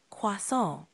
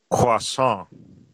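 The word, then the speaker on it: croissant: correctly CR pretty close try emphasizing the nasal sound at the end a bit more like quason how does that feel quason that's it you nailed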